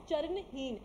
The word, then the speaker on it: Charanheen: लिखने में चरणहीना, but it is pronounced as Charanheen because she was footless.